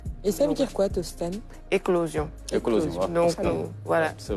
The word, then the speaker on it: Tostan: h déveloanisation et en G dejets ça se prononce to tost d'accord je pense Tostan c'est c'est un oui et en fait ça